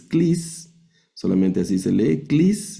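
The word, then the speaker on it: κλείς: Clis es una capa, una lambda y el diptongo que estamos estudiando, clis, que significa llave.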